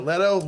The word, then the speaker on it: Leto: Leto. It's Leto.